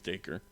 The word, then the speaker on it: Dacre: How do you say his first name? I think it's Dacre.